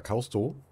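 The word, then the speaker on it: Caustow: Oder Kausto. Das W spricht man ja nicht mit.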